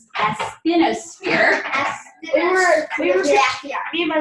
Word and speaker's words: asthenosphere: Astrosphere. It's asthenosphere. we were me and my mom were confused if it was mesosphere or astrosphere. Asthenosphere.